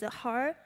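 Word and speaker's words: 허: There is a very popular expression in Korean, which is her, it's pronounced as her.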